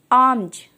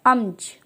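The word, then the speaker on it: alms: जब भी एल के बाद एम आता है वहाँ पे हम एल को साइलेंट रखते हैं।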